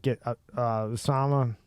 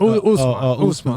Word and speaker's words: Usman: One was I can never say his name right. Osama. It's not fucking. Muhammad Usman.